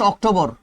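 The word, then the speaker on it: October: অক্টোবর একদিনের বেশি দিনে হয় 30 31 দিনে হয় রাইট তাহলে অক্টোবরের পূর্বে কি বসবে স্যার ইন সঠিক উচ্চারণ হচ্ছে অক্টোবর অক্টোবা ওকে অক্টোবা এটা এখন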